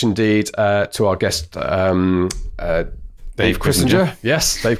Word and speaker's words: Chrisinger: He told me it rhymes with Kissinger, his name.